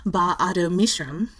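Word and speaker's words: Ba-Ado-Mishram: I believe it's pronounced something like, but I also believe I'm going to butcher this, Ba'ado Mishram, but I always say BAM.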